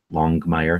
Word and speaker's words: Longmire: Longmire, that's how it's pronounced.